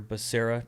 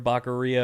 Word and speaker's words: Becerra: previously was uh xavier becerra despite how um some people pronounce his name like president biden yeah when he said javier bacaria or whatever it was that was pretty funny